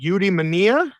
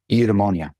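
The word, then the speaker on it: eudaimonia: So I believe the name of your book is pronounced udemania. Udemonia.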